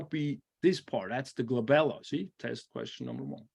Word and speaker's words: glabella: and you're going to write down glabella and by the way that's always on the test so that is your point number one right there because it rhymes with my second daughter Isabella so I have to